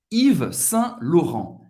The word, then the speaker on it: Yves Saint Laurent: Yves Saint-Laurent. Yves Saint-Laurent, que é bem famoso também.